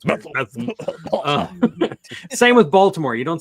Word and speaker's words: Bethlehem: Pennsylvania, which is actually you pronounce it Bethlehem, like you have something stuck in your throat or something. It's Bethlehem.